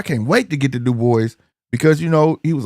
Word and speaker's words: Dubois: It's pronounced Dubois. Dubois. I ain't been saying that. I thought I was saying Dubois. Maybe not. But definitely French.